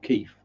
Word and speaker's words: Keith: with an e-i-t-h but given where i'm from it is pronounced with an f so keef yes but anyway other